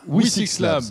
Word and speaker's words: Wi6Labs: Alors, je ne sais pas si c'est comme ça qu'on la C'est un peu prononce compliqué. vraiment. Le nom On de peut dire votre tout startup. simplement WE6 Labs. WE6 Labs.